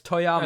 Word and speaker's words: Toyama: name wrong oh okay it's filled with two o's it's one o it's not two yama it's toyama that's fine yeah yeah